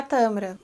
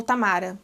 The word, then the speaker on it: Tamara: Dentre essas, teve uma que foi retratada na série, que é a Tamara, ou Tamara. Tamara, vamos ficar com Tamara, essa pronúncia tá melhor.